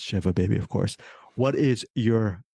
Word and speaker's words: Shiva Baby: not the one who you mispronounced Shiva baby like I did so Bruce perkey it's Shiva baby of course what is